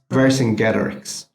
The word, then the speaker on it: Vercingetorix: And let me spell it for you. Versingetorix. Vercingetorix.